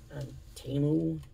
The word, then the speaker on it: Temu: I think I paid like 49 cents for it on Temu. I guess Temu is the way it's supposed to be pronounced. But it will always be Temu.